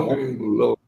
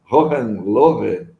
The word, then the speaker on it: Hohenlohe: Então, se tiver alguma coisa de alemão aí, o H normalmente é aspirado na pronúncia, seria Hohenlohe, mas é duro ficar falando isso, né? Eu prefiro falar Hohenlohe.